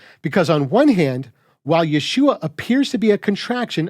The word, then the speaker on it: Yeshua: from the contraction standpoint it's pronounced exactly like you'd expect when you take the ho out of yahushua Yeshua but if you're still